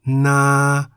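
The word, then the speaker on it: นา: Na is in the middle tone because the single syllable in the word na begins with the localist consonant no-nu and ends with the long vowel sara'a.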